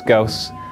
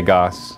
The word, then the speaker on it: Gauss: And first off, yes, it's Gauss. I used to say Gauss. Everybody said, nope, you pronounce it Gauss. And I thought, maybe that's a British way of pronouncing it, and Gauss is the American way. But I looked it up online, and it is Gauss.